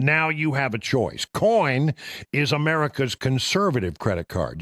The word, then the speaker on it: Coign: The G is silent when you say it, but it's in there when you're looking for the website.